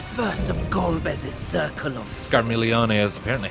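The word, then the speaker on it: Scarmiglione: Scarmilione is apparently how it's pronounced.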